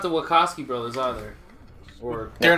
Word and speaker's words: Wachowski: It's Wachowski. Okay, just That was checking. close. I was worried I might have been mispronouncing it this whole time.